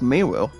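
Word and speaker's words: Meru: Miru, guys, is pronounced M-E-R-U. M-E-R-U. Well, I repeat, guys, M-E-R-U. Miru instead of mono.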